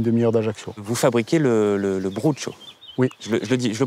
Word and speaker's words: brocciu: Vous fabriquez le Brucciu. Oui. Je le prononce bien? Pas trop. Ouais, je vois pas trop. Alors un petit cours peut-être? Brucciu. Brucciu. Brucciu. On avale la dernière syllabe.